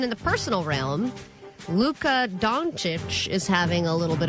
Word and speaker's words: Dončić: That's not donkey. That's how it's pronounced. Dončić, is it not?